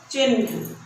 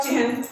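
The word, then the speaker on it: चिह्न: हम बोलते समय, उच्चारण करते समय भी ह पहले आता है, न बाद में आता है, लेकिन हम यहाँ यूज क्या करते हैं? बोलते क्या है? ये हम लोग अशुद्ध बोलते हैं। हिंदी पढ़ते हुए भी हम लोग अशुद्ध, हिंदुस्तानी होते हुए भी हम लोग अशुद्ध बोलते हैं। यह होगा चिन्ह। पहले ह का उच्चारण आ रहा है, तब न का, ये शुद्ध है।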